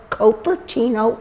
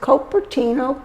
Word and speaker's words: Cupertino: And his patron saint was Saint Joseph of Cupertino, Italy. Oh, that's okay. See the tie-in. Here we go. And so, as they came through this area, he named things after his patron saint. There was Cupertino Creek.